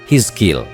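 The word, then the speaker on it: حزقيل: Dialah Nabi Yehezkiel, atau dalam pelafalan bahasa Arab disebut Hizkil.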